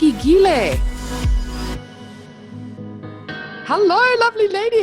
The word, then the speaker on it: Giele: be here and I'm so excited that you pronounced my name correctly on the first try that never happens I